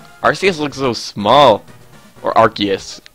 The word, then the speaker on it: Arceus: Or Arceus. Because it's apparently pronounced Arceus and not Arceus.